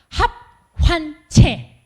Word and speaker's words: 합환채: 필요가 있습니다 성경에 이름하여 아 이거 발음 잘해야 됩니다 합환채 는 최소 책자 합은 합친다고 할 때 합 화는 기쁜 환자를 써요 그림 한번 보실래요 합판체가